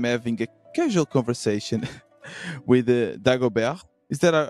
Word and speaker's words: Dagobert: It's like bear, like a bear, like an animal. So yeah, Dagobert. Dagobert.